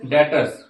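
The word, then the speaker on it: debtors: हैं trade क्रेडिटर्स trade डेटर्स डेबिटर्स। डेप्टर बोलते हैं, डेटर्स बोलते हैं। B silent क्रेडिटर्स डेटर sundry मतलब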